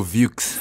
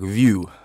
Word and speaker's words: Vieux: And South Africans, they go VieuX. Yeah. Like, you guys are ruining this name. It's the black pronunciation.